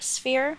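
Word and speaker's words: sphère: So it's like listen, you take the word fair. Fair. And you put the sound air and devant, so it means devant, before.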